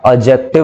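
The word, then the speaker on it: adjective: एडजेक्टिव कभी नहीं होता, इसकी प्रोनाउंसिएशन सही बोलते हैं हम, एडजेक्टिव बोलते हैं, डी हमारा साइलेंट होता है।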